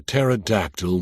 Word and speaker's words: pterodactyl: Walter said, "Why can't you hear a pterodactyl when he goes to the bathroom?" I groaned and was about to ask why when at the last moment it hit me. Because the P is silent.